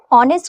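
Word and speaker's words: honest: ऑनेस्ट की शुरुआत vowel H silent होता है इसलिए एन का यूज करेंगे क्योंकि क्या होता है ये ऑनेस्ट होता है, अ का साउंड करता है, राइट।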